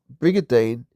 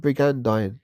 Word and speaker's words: brigandine: And against him that lifteth himself up, it is brigadeane. And spare ye not. So is that brigandine? Forgive me. Pronounced that wrong.